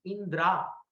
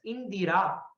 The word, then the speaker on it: Indira: But we pronounce it, people pronounce the name wrongly as Indra. So it shouldn't be pronounced as Indra. It should be pronounced as Indira.